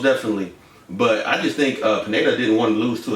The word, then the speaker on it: Pineda: Pineda. Pineda.